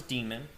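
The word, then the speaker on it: daemon: Today we're going to go over the boot sequence, the systemd demon. This is pronounced as demon, the system ctl command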